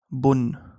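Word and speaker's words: بُن: And this is an N, right? So this is bun, okay? Bun.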